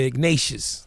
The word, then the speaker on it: Ignatius: So next Friday, Ignatius, am I pronouncing that right? Yeah, Ignatius.